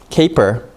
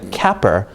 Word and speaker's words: caper: with a vowel so this is going to be pronounced with a long a sound and that's why this